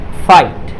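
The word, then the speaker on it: fight: ये GHT है तो इसमें GH जो है आपका साइलेंट होगा। तो क्या हो जाएगा, फाइट। फाइट मतलब युद्ध, इसमें जो है आपका GH साइलेंट होगा।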